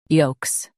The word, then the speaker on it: yolks: yolks yolks Stress yo and keep - clear. The L is silent.